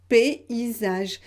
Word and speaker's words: paysage: et comme c'est ici comment vous prononcer ce mot ici p isa ge paysage j'ai mis ici une correspondance pour que vous compreniez la prononciation d'accord donc le crayon